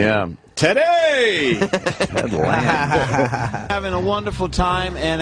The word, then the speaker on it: Lange: I'm saying I Ted said Lange. There's an E at the end, so...